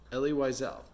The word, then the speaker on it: Elie Wiesel: Elie Wiesel.